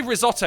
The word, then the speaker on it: risotto: you guys like mushroom risotto, because that's all I made. He's just got mushroom risotto for weeks. Good source of protein, though. And when you say risotto, you got to roll risotto.